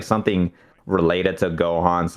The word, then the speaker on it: Gohan: where I was like it's two syllables go Han so then I tried